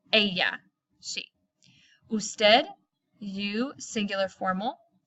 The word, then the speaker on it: ella: please do not say Ella remember the double L is pronounced like a Y a yeah si busted' you singular